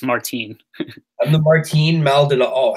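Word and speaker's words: Martín Maldonado: wrong I've been although sorry no it's Martine I'm the 14 melded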